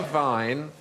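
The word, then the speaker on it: Wein: going to say Vine but the German say Vine and spell it with a W ah so why is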